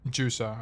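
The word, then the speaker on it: Hwei: I love watching huge. True. It's pronounced jua. Okay. I see. I see. Jua.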